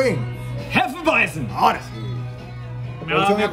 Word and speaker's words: Hefeweizen: Producción, pronuncia bien. Hefeweizen.